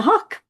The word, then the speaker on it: Hauk: So today I'm thrilled to welcome Cynthia Hauk. Like, how do you say your last name? Like the hawk, right?